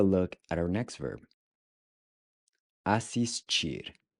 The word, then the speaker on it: assistir: Assistir. Assistir. Assistir. Assistir means to watch. So you'll notice that the TI is pronounced chi.